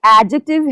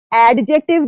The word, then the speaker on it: adjective: Okay, it is the third part of the speech and we need not pronounce this letter D. Okay, ये adjective है, adjective नहीं है.